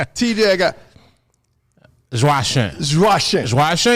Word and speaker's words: Joachim: name tj i got josh russian is how you say it like the french way like sometimes i try to americanize it for people i would say joe kim joe kim yeah which is like joking noah like the player